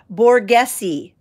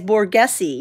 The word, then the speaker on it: Borghese: These Borghese, someone helped me with the pronunciation. Borghese. This is the brand, you guys, Borghese.